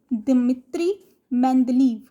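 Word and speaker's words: Dmitri Mendeleev: He had a Russian name, so we are going to pronounce his Russian name. It is Dmitry Mendeleev.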